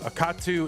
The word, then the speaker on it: Akatu: On the right side of your screen it's Akatu. I always say akatu, but uh I'm sure it's a katu cuz the middle syllable is capitalized.